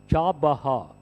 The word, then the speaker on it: Chabahar: The opening of the first office of Indian Ports Global Limited at Iran's Chabahar, R is silent, and the takeover of